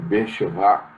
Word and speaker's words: Beersheba: É mais fácil você pronunciar no hebraico, Beersheba, que é poço do juramento.